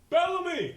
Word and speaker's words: Bellamy: Ralph, how do you pronounce the last name? Bellamy.